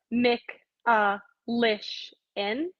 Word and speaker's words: Michalyshen: had it like a written out so it's mick uh lish in but i think when i wrote it down phonetically like it could have gone either way